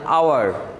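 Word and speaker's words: hour: এরপরে লক্ষ্য করো আমাদের এখানে আছে এইচ ও ইউ আর, এটা কি আমরা কি হাওয়ার বলি না আওয়ার, আচ্ছা এটাকে হাওয়ার বলি না আমরা বলি আওয়ার, এ এইচটা কি অনুচ্চারিত হয়, তাহলে আওয়ার, ও ইউ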